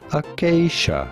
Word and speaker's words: Acacia: How to pronounce Akakia? Acacia. Oh, acacia.